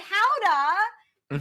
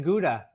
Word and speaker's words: Gouda: It sounds like I'd love to live in Gouda. I mean, Gouda. Yes. Is it Yeah, weird? yeah. Actually learned the correct pronunciation from you on your show as well.